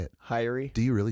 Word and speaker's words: Haery: Haery.